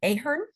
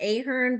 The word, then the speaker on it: Ahern: I hope I say her name right. I think I've only seen it in writing. Ahern? Wonderful. I've always said Ahern, but I think it's Ahern. Ahern. I always say it wrong.